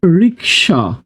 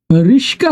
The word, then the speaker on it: রিক্সা: আবার অনেকে আমরা বলি এই মামা রিক্সা কি উচ্চারণ করি রিক্সা কি উচ্চারণ করি রিক্সা আবার যে রিক্সাচালক তিনি বলতেছেন রিশকা চালাইতে চালাইতে কষ্ট লাগে কি চালাইতে চালাইতে রিশকা